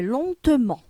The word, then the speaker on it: lentement: L'adverbe, c'est lentement. Lentement. Donc, on voit le E et on prononce le E.